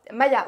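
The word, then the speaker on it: Maja: Maya, ouais, alors Maya, c'est dans le. Oui, non, mais ça s'écrit avec un J.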